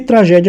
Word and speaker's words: tragédia: E tragédia é a mesma coisa, está aqui na penúltima sílaba tônica.